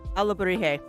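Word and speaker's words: alebrije: And that's the way I was told to pronounce it. Alabrije? Okay, Alabrije.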